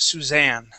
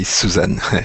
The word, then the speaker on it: Suzanne: Here on this word, yes, it is a name, but it's pronounced Suzanne. Okay, this is okay. In French, we say Suzanne.